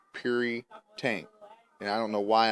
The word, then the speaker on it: Puritank: tank and it's not it's called curry tank like pure like puri tank and i don't know